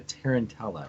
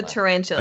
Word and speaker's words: tarantula: tarantula is actually the tarantella right is it tarantella cos the tarantella I'm pretty sure it's not it's the tarantula it's the trend it